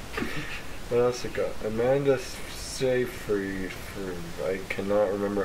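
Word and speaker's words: Seyfried: else it got Amanda sa free I cannot remember how to say her name so say sa free I can't freed you say field I I just but it's not field it's like fried whatever the girl from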